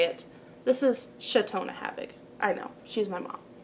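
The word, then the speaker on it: Chautona Havig: the belts of new chelten ham cheltenham by chatona having you don't know how to say it this is chatona havoc i know she's my mom i know how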